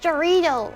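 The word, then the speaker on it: Jarritos: It's pronounced Jarrito.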